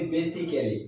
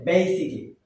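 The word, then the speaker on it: basically: সর্বপ্রথম যে শব্দটি আমরা এটাকে বলি বেসিক্যালি। কি বলি? বেসিক্যালি। কিন্তু এর উচ্চারণ হবে বেসিকলি। What is ইট? বেসিকলি, নট বেসিক্যালি।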